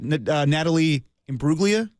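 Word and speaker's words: Natalie Imbruglia: do it one time okay what is it Natalie IM bruga okay well giving away tickets right stavos Mir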